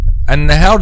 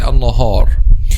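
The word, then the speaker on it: النهار: Also, some people say, for example, an-nahar. An-nahar, this is the correct pronunciation. An-nahar, because why? Because al-ha is a light letter, so an-nahar. Some people say an-nahar. So this is making Alif heavy when it should be light.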